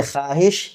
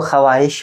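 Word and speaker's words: خواہش: मादु यानी ख्वाहिश खाब ख्वाहिश की वाव को अगर हम जाहिर करेंगे तो खवाहिश होगा ये बिल्कुल रंग है इसका यह है वाव को साइलेंट करके पढ़ेंगे ख्वाहिश तो यहां पर वा मादु का एग्जांपल आ गया खवाहिश खब खवाब खवाहिश नहीं बोलेंगे तो वाव के साउंड को छुपा लेना है तो उसको कहते हैं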